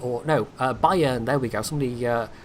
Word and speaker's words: Bayern: at tier six at the moment cuz the Bayern or no uh Bayern there we go somebody uh told me the